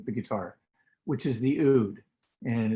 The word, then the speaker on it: oud: guitar which is the ood and it's spelled oud it sounds like food not ode or oud it's just food um and the ood